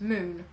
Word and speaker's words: Mün: can sometimes you see you see like the Mun written down with spelt M U with an umlaut over it and N and that would actually be pronounced moon so but then you